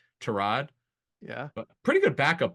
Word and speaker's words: Tyrod: correcting people he said the correct pronunciation is trod yeah but pretty good